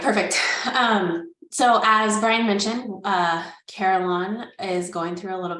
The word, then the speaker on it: Carelon: And as you guys can hear us say, it's Carelon. We have the pronunciation on there. And the name is derived from care and lawn, which means full and complete.